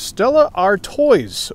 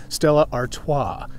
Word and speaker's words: Stella Artois: up this round is stella r toys or if you want to pronounce it correctly stella artois straight out of belgium five percent alcohol and